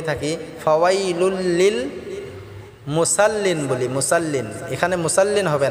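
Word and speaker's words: مُصَلِّين: এখানে আমরা অনেকে ভুল করেই থাকি, ফাওয়াইলুল লিল মুসাল্লিন বলি, মুসাল্লিন, এখানে মুসাল্লিন হবে না, মুসাল্লিন, সাদটাকে আমরা মোটা করে উচ্চারণ করব ইনশাআল্লাহ।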